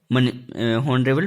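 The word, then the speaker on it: honorable: Simple के तौर पे कि एग्जाम्पल जैसे मैं बता रहा हूं, N horse, N हॉनरेबल, हॉनरेबल मैन, ठीक है। अब एन हॉनरेबल मैन, ठीक है, एच साइलेंट में है, ठीक है।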